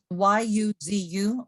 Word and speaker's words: yuzu: It's very popular in Asia, which is yuzu. It's Y-U-Z-U. It's pronounced yuzu.